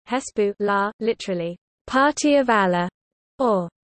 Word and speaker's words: حزب الله: Hezbollah, pronounced Arabic Hesbu la, literally Party of Allah